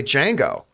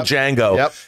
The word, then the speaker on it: Django: nero at the bar the original django and says the d is silent you know he just